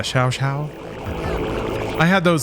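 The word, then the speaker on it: Xiao: Is it X-I-A-O? Shao? That's always what I imagined. Yeah, Shao.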